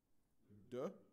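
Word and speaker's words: deux: Duh.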